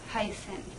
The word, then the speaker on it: heißen: - niversität- Let's look at some consonants, so the ess-tset, it looks a little bit like a -B-, but it's not a -B- , it's actually just like an -S-. -Heißen- Then, there is the